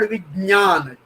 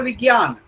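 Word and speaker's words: विज्ञान: For example, in South Indian languages or in Marathi, this is called Vijnan, Jna, Jna. Whereas in Hindi, it is called Vigyan.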